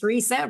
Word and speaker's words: Risa: Let me know if I pronounce correctly your name. Risa. Yes, it's Risa.